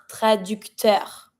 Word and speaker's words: traducteur: First one, un traducteur. I pronounce everything here because you see it's finishing with a R. I pronounce the R.